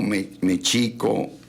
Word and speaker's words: México: Dice, "Ni te escoco con el sonido de la X, sino con el sonido sh, como champú en inglés o como mechico, o se decía soy sitkin o techuco."